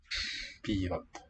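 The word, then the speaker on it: пьёт: Piyot. Two syllable there.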